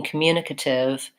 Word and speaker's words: communicative: the ative that's because in communicative it's the same as in communicate the mune is the stressed syllable and it stays I don't know if